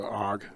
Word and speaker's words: AUG: come up for me the steyer og i've always pronounced it the hog okay because that's the